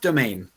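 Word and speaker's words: demesne: safe a safe um i don't know how to pronounce the word uh demands dements it's pronounced domain oh okay it's it's french so they like to spell things weird and then pronounce them the way that they that we would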